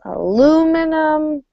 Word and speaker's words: aluminum: you go let's see let me just highlight where we have stress aluminum it's going to be the second syllable of each word so the aluminum the old linoleum and the molybdenum all right give it